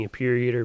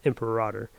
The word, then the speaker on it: Imperator: Yeah, I know I was saying Imperator, but it's actually pronounced Imperator. So that was my mistake in the last video.